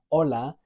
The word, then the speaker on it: hola: First, we've got the letter H, which from the very first word you tend to learn in Spanish, hola, we can realize is silent.